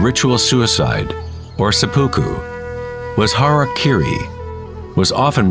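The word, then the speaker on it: hara-kiri: one form of ritual suicide or seppuku was hara kiri was often mispronounced as harry kerry it means to impale one's horror thereby cutting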